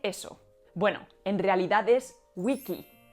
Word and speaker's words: vici: Bueno, en realidad es wiki. La CE y la CI se pronunciaban con el sonido K, ki.